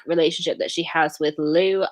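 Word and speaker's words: Lew: she has with lou i don't think it's pronounced like that but that's how it's like low low um it's double l e w um low yeah i'll say low that sounds more accurate than lou um so he obviously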